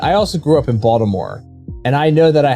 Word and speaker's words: Baltimore: A lot of people would pronounce the T in that a lot. No, it's Baltimore. That if you're from Baltimore, it's and now I'm conscious about saying the word, so now I'm gonna make it worse. If you're from the area, it's how you pronounce the city.